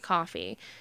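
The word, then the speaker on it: Ko-fi: member on kofi or maybe you pronounce it coffee k o dash f i it's kind of like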